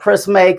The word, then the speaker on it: Prisme: Mason Bert from the I say it's the Prisme collection because it's spelled P R I S M E, but it's shaped like a prism.